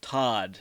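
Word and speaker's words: Toht: The name of the sadistic Nazi interrogator is never mentioned in the film, but it is pronounced Todd, but it's spelled T-O-H-T, which means death in German.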